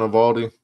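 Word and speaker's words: Eovaldi: Nathan Evaldi.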